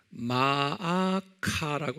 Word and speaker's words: 마아카: 그 다음에 네 번째 부인은 마아카라고 그랬어요.